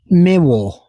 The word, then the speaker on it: Miwa: Next to it, we have Acer Palmatum Miwa, M-I-W-A. I guess that's how you say it. My Japanese is not very good, so we'll guess at that.